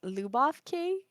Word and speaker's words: Lyubov: Lyubov. Lyubov Lyubov. Kay. Oh, it's kind of like Yeah. almost an F sound at the end, not a Almost V.